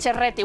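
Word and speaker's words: Ceretti: Cerretti, bueno, perquè es pronuncia així.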